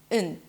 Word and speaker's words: and: to pronounce them separately, so it's not going to be bread and butter, but I drop the d, I reduce the a to bread and butter, right? So I'm reducing everything together. I even connected the d to the n immediately.